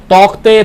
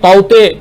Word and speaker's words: Tauktae: जो आया हुआ है, तौकते तौते अलग अलग नाम से पुकारा जा रहा है, हालांकि स्पेलिंग TAUKTAE है, इसीलिए तौते तौकते बोला जा रहा है।